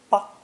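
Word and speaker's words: 吧: The character for dad or papa is simply fu with the ba phonetic underneath, together pronounced ba. 10. The final character is neutral tone ba, used in 3 ways: to give an order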